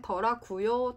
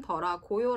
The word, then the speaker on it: 더라고요: 어려울 수가 있죠 4 원래는 정확해 쓰면 더라고요 라고 쓰셔야 되는데 아무래도 해와 할 때 많이 쓰는 스타일이 다 보니까 사람들이 말할 때 더라구요 처럼 발음하는 경우가 많습니다 물론 서울이 아닌 지역에서는 더라고요 라고 발음을 하는 경우가 더 많을 수도 있구요 중급 정도 레벨이 되면